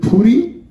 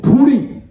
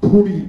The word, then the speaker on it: ਫੂੜ੍ਹੀ: Now, some of you would pronounce it as Puri. I will pronounce it only as it should be pronounced in Punjabi. It's actually not R, but R. It's Puri.